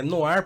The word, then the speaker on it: Noir: Noir se escreve Noir, mas é Noir porque Noir é negro em francês.